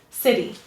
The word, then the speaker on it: city: So sit is stressed, this is unstressed. City.